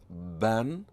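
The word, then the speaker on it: بًا: that's a tanween fatha, you pronounce it as ban, and you have to add the long vowel alif. This is unique to this kind of tanween.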